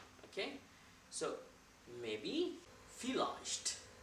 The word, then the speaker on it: vielleicht: लेकिन जर्मन में जो V है इसको प्रोनाउंस किया जाता है F. So that's why we say vielleicht. Okay? So maybe, vielleicht, right?